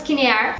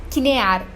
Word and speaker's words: Kinnear: Eles são acusados então de matar o dono da casa, o Thomas Kinnear. Ok, não me matem, mas nós temos mais uma pronúncia errada. Dessa vez não é Kinnear, e sim Kinnear.